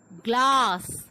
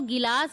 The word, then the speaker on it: glass: ठीक इसी तरीके से होता है ग्लास. बहुत सारे लोग इसको गिलास बोलते हैं, बट वो रॉन्ग प्रोनाउंसिएशन होता है. That is ग्लास.